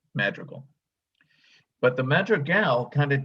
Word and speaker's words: Madrigal: the word was that his last name is pronounced Madrigal, accent on the last syllable. Okay. Not like the ancient English music madrigal.